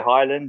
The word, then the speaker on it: Hylland: In English, people say Highland, yeah, but it's a Norwegian name.